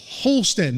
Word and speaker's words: Polston: Polston.